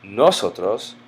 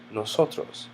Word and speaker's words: nosotros: If you look at the word nosotros, you notice that it's not nosotros or nosotros, but rather nosotros, because it ends in the letter S.